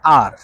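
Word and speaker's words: 二: কিভাবে বলবেন সেটা হচ্ছে আর ইংরেজি অক্ষর আর আছে না ঐরকম উচ্চারণ হবে আর চাইনিজ ভাষায় আর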